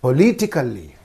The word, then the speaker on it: politically: You have to say politically, political, politically, right?